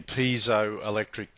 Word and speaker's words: piezoelectric: you may the crystal microphone relies on the piezo electric effect pronounced piezoelectric piezoelectric comes from the greek piezo